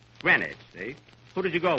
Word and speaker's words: Greenwich: all day yesterday in green witch Billy Kenny that's not green witch you see here in New York it's pronounced Greenwich grenwich see who did you